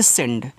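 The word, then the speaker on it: send: यहां पे आधा ना डी से आपका अरे ड यार यहां द नहीं बनाना है ठीक है ये आपका सेंड हो गया और सेंड का मतलब होता है भेजना। देखो जैसे अभी हम यहां पे द बना रहे थे तो इंग्लिश वाले में आप द नहीं बनाओगे आप यहां यहां पे ड बनेगा।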